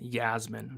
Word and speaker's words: Iasmin: It is Iasmin with an I. It's pronounced Yasmin.